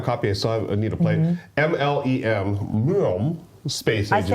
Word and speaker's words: Mlem: MLEM, Space I Agency. say Mlem, like Meow.